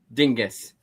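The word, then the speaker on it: Dingess: Uh Chris Digness or Dingis. Literally how he pronounces his name.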